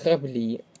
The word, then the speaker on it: граблі: наголос у слові Так тут граблі наголос на другий склад дочка наголос на другий